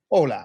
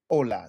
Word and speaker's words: Hola: Hola, right? Hola. The H is silent.